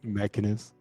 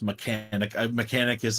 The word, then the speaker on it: Mechanus: That's Mechanus. Mechanus. Mechanicus is better. I'm using Mechanicus. Mechanicus. I'm Mechanicus. There's like an extra canic in there. Mechanicus.